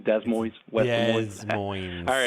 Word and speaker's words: Des Moines: The Dem Des Moines? We call it Des here, but yeah, Des Moines, Des Moines, West Des Moines.